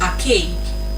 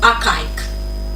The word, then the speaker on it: archaic: Another word of the day is archaic, not archaic.